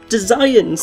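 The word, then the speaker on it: Desians: I've told you the pronunciation, Tom. It's Designs.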